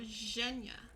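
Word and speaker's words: Женя: The ZH is pronounced like at the beginning of the second syllable of the word pledge. Oh, Zhenya. Totally cool being called. Zhenya.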